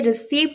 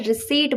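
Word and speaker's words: receipt: कहीं भी आप जाएंगे, बिल पेमेंट करेंगे, तो आज से रिसीव्ड नहीं बोलना है। रिसीप्ट बोलना है।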